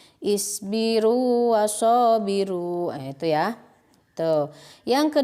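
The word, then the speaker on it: اصبروا وصابروا: Jadi dibacanya seperti biasa, berlaku hukum mad tabi'i. Isbiru wasabiru.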